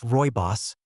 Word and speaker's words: Rooibos: If you haven't heard of it yet, Roy Boss, pronounced Royos, is a vibrant red herbal tea that comes from a plant native to South Africa.